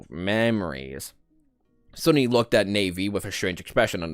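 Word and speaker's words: Nephis: Someone said pronounce it like navy. So I'm pronouncing it like navy. It was naven before. Now it's navy.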